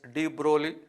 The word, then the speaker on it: de Broglie: Pronunciation is de Broglie.